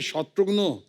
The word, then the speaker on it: Shatrughan: मिसाल के तौर पे मेरे बंगाली फ्रेंड अभी तो मुझे कहते हैं कि अरे शत्रुग्नो कैमोनाशी शत्रुग्नो डॉक्टर नो का भाई बना दिया है।